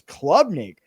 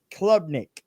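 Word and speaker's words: Klubnik: and I was like his last name is Clubnik. I've been saying it wrong this whole time and so I do want to iterate guys that his name is Cade Clubnik out of Clemson.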